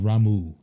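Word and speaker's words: Ramuh: head he's just Titan lightning is but it's pronounced ramu oh there we go remove yeah I remember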